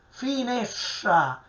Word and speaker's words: finestra: dimestichezza col siciliano, perché questo gruppo STR, che è un altro fonema cacuminale, bisogna pronunciarlo finescia, strisciando, cacuminale, retroflettendo la lingua. Ci possono essere anche altri esempi. Ecco, guardate che la parola è uguale sia in italiano che nel siciliano. Finestra, finescia, ok? È il nesso che deve pronunciarsi differentemente, come minestra e minescia in siciliano.